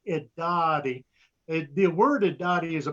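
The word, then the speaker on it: Irari: The word Idati, it is spelled with an R, I-R-A-R-I, but it's pronounced Idati.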